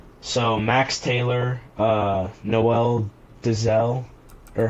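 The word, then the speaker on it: Deyzel: max Taylor uh Noel dezel or how do you say his last name is daisal oh yeah yeah yeah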